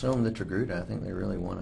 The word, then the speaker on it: Togruta: just say definitely the the most oftenly misspelled the mispronounced species it is very which is it is not Tortuga it's not or torgut it is not tortilla or or tortilla it